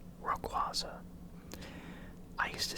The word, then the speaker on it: Rayquaza: I know that Pokemon recently came out and said that the proper way to say it is Rayquaza, but it just doesn't sound right, and I'm pretty sure in the anime they said Rayquaza.